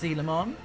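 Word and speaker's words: Coelamon: It's pronounced Selon, an ancient fish Digimon.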